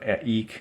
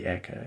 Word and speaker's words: eke: Based on the rhyme scheme here, I'm guessing here, eek is rhyming with seek. So unless they're pronouncing seek as sika, it would not be eka. It would be eek at this point.